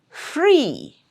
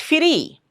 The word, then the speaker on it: free: Free. Free. It's not furry. It's free.